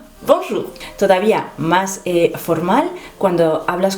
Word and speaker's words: bonjour: Fíjate que aquí tienes OU y OU se pronuncia U. No es O, es U. Bonjour.